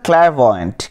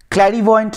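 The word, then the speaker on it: clairvoyant: 16 চলে আসছি, what kind of a person is আ ক্ল্যারভয়েন্ট, ক্ল্যারভয়েন্ট, ক্ল্যারিভয়েন্ট নয় ক্ল্যারভয়েন্ট, উচ্চারণটা ক্ল্যারভয়েন্ট হচ্ছে জ্যোতিষী, জ্যোতিষী যে ভবিষ্যৎ বলতে পারে বা পাস্টে কিছু বলতে পারে, সব ক্ল্যারভয়েন্ট ইজ জ্যোতিষী।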